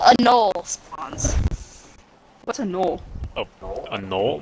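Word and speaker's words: gnoll: What's a knoll? Oh, a knoll? Like K-N-O-L-L? That knoll? G-N-O-L-L. A goal. Knoll. No, okay, so it's, okay. The so G it's is pronounced silent. It's like a no.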